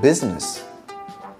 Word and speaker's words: business: Halfpenny is how you pronounce half penny. G as in sign. H as in honest. I as in business.